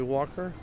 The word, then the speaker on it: Walker: together i'm father henry walker henry h nry walker kind of rhymes with talker but with a w okay and ours is